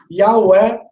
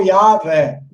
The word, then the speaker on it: Yahweh: Depende se você vai pronunciar o W como U, ou V como U, ou como V. Se você pronunciar como V, dá Yahvé. Se você pronunciar como U, dá Yahweh.